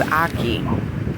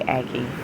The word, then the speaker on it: ackee: with my homie so this is aki or aki as um i think the locals say aki i like aki but